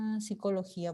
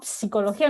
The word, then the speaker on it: psicología: Y la pronunciación de psicología no es psicología, ¿no? Psicología no es la pronunciación es psicología. La P no se pronuncia.